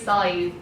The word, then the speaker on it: Sadbh: And her name is Scythe because it's spelled like, I know people have asked me already, they're like, how on earth do you pronounce this? Because it's like SADBH or something, you know, like ridiculous.